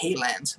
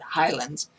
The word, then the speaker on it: Highlands: Which that's how you pronounce it, not Haylands, but Highlands.